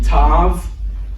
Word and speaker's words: tav: It's called the tav. Uh, and we are going to pronounce it with the sound of T whether there's a dot in it or not.